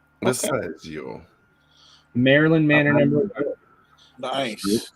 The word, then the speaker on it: Visaggio: Hold on, let me say it right. Magdalene Visaggio. Visaggio.